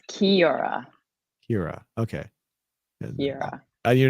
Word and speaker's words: Kira: Actually, the Kai is actually pronounced K, I guess, instead of it's pronounced like Oh, so it's like kiss. So it's Kiora. Kira.